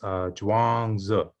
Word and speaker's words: Zhuangzi: And I want to make sure I get this pronunciation right. It's Zhuangzi is the name of the actual work.